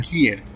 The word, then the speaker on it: Kier: É a pronúncia correta? É Udo Kier ou é Udo Kier? Kier.